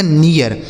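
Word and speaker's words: near: चाहिए ठीक है आगे एन इ ए आर तो एन से हो गया दोस्तों न इस इ ए का उच्चारण इ हो गया। उसके बाद आर से र यह लिखा गया आपका नियर यानी इ ए आर लिखा गया है नियर।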